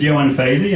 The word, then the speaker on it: Ioan Fazey: It's Ioan Fazey. He'll tell you what it's called. Thank you very much. Good evening, ladies and gentlemen. Good evening. Thank you. My name is Ioan Fazey, as he obviously couldn't pronounce, and I'm from the University of Dundee.